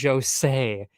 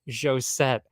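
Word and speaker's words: José: got his name wrong it is Jose not Joseph I'm an idiot I'm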